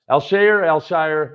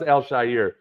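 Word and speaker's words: Al-Shaair: Alshire. It's not pronounced Alshire. It's Alshire or Alshire.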